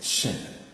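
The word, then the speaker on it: שׁין: The next one is shin. The dot has shifted from here to here. So it is pronounced as sh.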